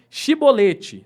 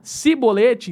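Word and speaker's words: shibboleth: não eles o mandavam dizer a palavra chibolete né a na nossa na na nossa de que são aqui né mas se ele dizia sibolete então eles sabiam diferenciar quando os gaditas pronunciavam a palavra para eles devia ter som de xi mais um gileadita falava como si porque não podiam falar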